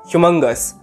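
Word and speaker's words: humongous: It's pronounced as ह्यूमंगस एंड it's usage is इट वॉज एन ह्यूमंगस statue.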